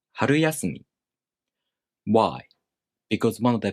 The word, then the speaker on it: 春休み: their original pitch accent patterns, it sounds like 春休み. But this is not how you pronounce the word. It should be pronounced 春休み.